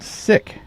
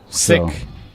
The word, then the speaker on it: Siech: Jim says fun fact Gray's last name is pronounced sick the H is silent sick so is it sick